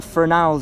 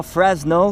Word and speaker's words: Fresnel: The problem is, right, there's something called the Fresnel zone, or Fresnel for anybody in the comment that says I'm saying it wrong.